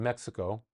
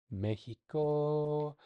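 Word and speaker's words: México: That is the case in Mexico. Mexico. Mexico. I said that like an H. Mexico.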